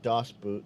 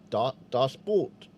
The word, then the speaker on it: Das Boot: Das Boot is a submarine movie, yes, but boot and Das Boot is actually pronounced more like boat.